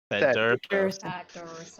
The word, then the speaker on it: Thaddeus: Thaddeus. I'm sorry. No, I get it. I get it. He did this on purpose. It's 3 syllables.